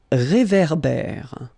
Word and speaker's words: réverbère: So here you've got this accent aigu, et, and then here you've got this accent grave, é. Okay, et, é. So it goes like réverbère.